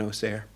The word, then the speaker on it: Auxerre: near the city of Auxerre. You know, it's spelled A-U-X-E-R-R-E, Auxerre, but having spent too much time in Auxerre, I know that the people from Auxerre say Auxerre.